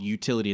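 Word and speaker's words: Youtility: The book is called Utility. It's spelled Y-O-U.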